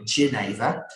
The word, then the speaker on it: genever: We're not very good at saying foreign words here, so we don't call it jenever, we call it genever.